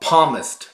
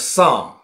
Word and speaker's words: Psalm: 不会读，他把 Psalm 读成了 Palmist。他不知道那个 P，那 letter P 是不发音的，他读 Palmist，应该是 Psalm，让他真的